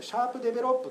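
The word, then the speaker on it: SharpDevelop: にですねちょっとこれシャープデベロップと読むんですけれども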